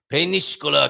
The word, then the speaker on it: Peníscola: Peníscola, Castellón. You have to say it like that.